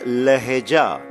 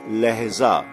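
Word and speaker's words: لہجہ: Now we say lehja, lehja, not lehza, lehja, lehja and not lehza.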